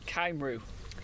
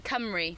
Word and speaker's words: Cymru: I said Caimru. Yeah, what he means is FC Cymru, which is where we're getting a package from.